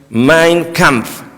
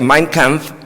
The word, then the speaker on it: Mein Kampf: Usted sabe, hermano, Hitler, él escribió un libro que se llama en alemán Mein Kampf. Yo estuve en colegio alemán, por eso el alemán se pronuncia tal como se lee casi Mein Kampf, que es mi lucha.